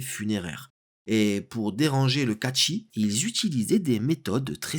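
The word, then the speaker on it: Cait Sith: Ça se prononce Catchy et non pas châssis, c'est un chat et pas une voiture.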